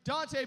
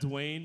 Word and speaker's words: Duante: So I get everything from Duante to Duante. I've even got Dwayne before, like the T silent shit.